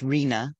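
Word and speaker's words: RHNA: have heard buzzed about it's pronounced Rina and it's the Regional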